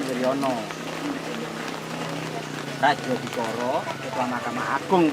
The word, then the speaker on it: Wirjono: Ya ini bulan 11 tahun 1965 pada itu kan menurut GM Mister Wiryono, kalau ejaan lama kan Wirjono gitu kan. Ejaan lama Wirjono, bacanya itu Wiryono gitu. Bacanya kan Wiryono.